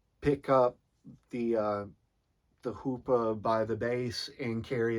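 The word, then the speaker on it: chuppah: the the jewish um it looks like it's spelled out chupa but um from what uh i recognize it it's pronounced hoopa and and so basically this hoopa is for the lack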